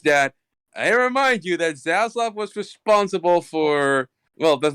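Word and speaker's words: Zaslav: This guy who's David, I've forgotten how to pronounce his last name. Is Zaslac. Zaslac.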